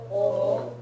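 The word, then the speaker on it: を: Wa, i, u, e, and then wo, which, strangely enough, the W doesn't get fully pronounced on this one very often. So it usually ends up sounding like O.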